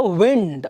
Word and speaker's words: wind: But when it becomes strong ಅಂತ ಹೇಳುವಾಗ it becomes a wind. Okay, then other one is, this is how do you pronounce it?